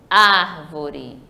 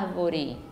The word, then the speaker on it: árvore: e vocês vão entender Vejam Só a árvore Tá vendo como eu demorei mais no ar Outro ponto importante também